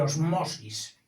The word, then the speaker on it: ósmosis: No se descarta pronunciarla de forma llana, es decir, osmosis.